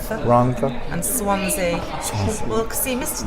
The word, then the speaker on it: Rhondda: Double D is pronounced. Rhondda.